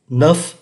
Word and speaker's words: neuf: được cái âm S, neuf phải cho thấy được cái âm F, và số 10, dix, phải cho thấy được cái âm sở.